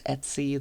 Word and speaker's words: etc: home folders you've got Etc which people tend to pronounce Etsy that holds some some